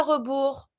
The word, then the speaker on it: rebours: À rebours, you need to write everything down, le compte à rebours, and of course, as usual, you don't pronounce the S. Le compte à rebours, the countdown.